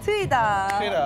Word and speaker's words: Teuida: booth and now we're going to talk with teoda hi nice to meet you nice to meet you it's tida very hard to pronounce right now we'll learn to it these